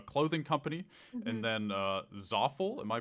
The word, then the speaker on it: Zaful: uh or a clothing company and then uh zaful am I pronouncing that correctly that's right zaful so did they reach out to you did